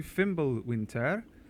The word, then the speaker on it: Fimbulwinter: Welcome back to Fimble Winter. You have to say it like that, like a Swedish.